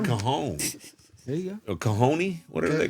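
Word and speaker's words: cajón: A cajoni? Whatever they call it. Whatever they call it. No, not a cajoni. A I think it's cajon. spelled like that, but it's not.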